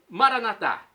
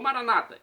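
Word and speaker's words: Maranatha: eu clamo do aramaico maranat como dizemos nós católicos ou Maranata como dizem nossos irmãos separados os evangélicos ou protestantes não importa pronúncia o significado é o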